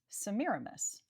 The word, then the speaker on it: Semiramis: bum bum bum bum, we see that the emphases fall on the second and fourth syllables, Semiramis, on purpose trimmed up for Semiramis.